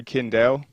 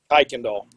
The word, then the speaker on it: Kuykendall: to pronounce this right, Kindle, or Kindle? It's actually Kuykendall. Kuykendall. Okay.